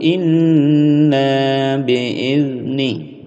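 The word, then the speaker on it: إلا بإذنه: 'illa biidnih', 'lam' memiliki shaddah , 'illa', 'illa biidni'. 'Idni' tidak boleh memantul, 'idni', tidak boleh ' idni'.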